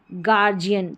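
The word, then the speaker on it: guardian: जैसे कि गार्डियन तो जी यू का ग उच्चारण है गार्डियन।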